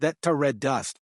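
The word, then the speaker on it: þetta reddast: true Icelandic Spirit of etst pronounced thata red dust in somewhat rough English it is a saying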